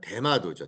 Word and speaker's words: 대마도: 자, 이 스시마 섬을 우리식 발음으로 하면 뭐예요? 뭐예요? 대마도죠, 대마. 대마를 피우나?